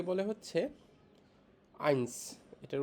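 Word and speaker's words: eins: কে বলে হচ্ছে নল ওয়ান কে বলে হচ্ছে আইনস এটার উচ্চারণ হবে হচ্ছে ই আই এন এস আইনস টু কে বলে হচ্ছে জোয়াই টু কে বলে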